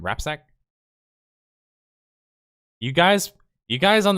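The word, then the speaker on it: Rapczak: and jesse rapzak and that's a rj uh pronounced name rapsack you guys you guys on the on the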